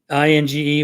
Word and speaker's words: Inge: Okay, INGE with a G hard pronounced.